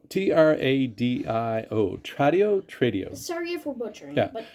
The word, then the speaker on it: Tradio: anyway so I went online and it's called it's spelled t-r-a-d-i-o Tradio for butchering yeah but trade you and